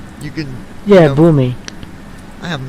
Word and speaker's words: Boomy: Yeah, you know, Boomy.